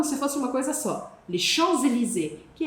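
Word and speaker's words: Champs-Élysées: Le Chanzelizé, que é a avenida mais chique do mundo.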